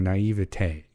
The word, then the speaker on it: naivete: time i think you were going for a naivete there you go um her naivete was just